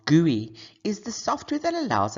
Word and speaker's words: GUI: Graphical User Interface, GUI, which is pronounced GUI, is the software that allows us to interact with our computer.